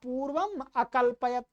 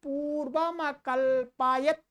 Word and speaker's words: पूर्वमकल्पयत्: सूर्या चंद्रमसौ, ठीक है, सूर्या चंद्रमसौ धाता यथा पूर्वमकल्पयत्, ऐसे बोलेंगे, इसको मिला करके बोलेंगे, यथा पूर्वमकल्पयत्। क्या ये वैसे है तो यथा पूर्वम अकल्पयत्, परंतु यहां पर मिला के ही बोलना चाहिए।